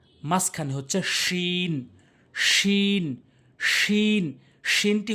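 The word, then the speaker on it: ش: শিনটি হচ্ছে জিমের মতো, দেখবেন জিমের উপরে 5 লেখা রয়েছে, শিনও 5 লেখা রয়েছে, দুটি সেম উচ্চারণ হয়, একই জায়গা থেকে উচ্চারণ হয়, জিহ্বার মাঝখানটা উপরের তালুর সঙ্গে। শিন শিন শিন শিন।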